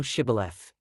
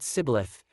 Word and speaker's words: Shibboleth: Then said they unto him, Say now Shibboleth. And he said Sibboleth, for he could not frame to pronounce it right.